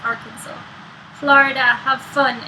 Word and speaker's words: Arkansas: Even though it's spelled Arkansas. It's Arkansas.